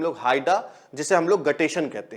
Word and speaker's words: guttation: में, जिसे हम लोग हाइडा, जिसे हम लोग गटेशन कहते हैं।